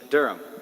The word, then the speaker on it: Durham: How do you pronounce it? Durham.